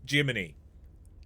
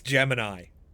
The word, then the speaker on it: Gemini: No, I understand it's it's Jiminy. I get it, but it's Gemini. I can call him Jiminy. I can try. It's wrong, but I can try.